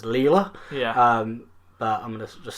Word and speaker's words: Leyla: That is pronounced Layla, although it's spelled Leyla, so I want to pronounce it as Leela.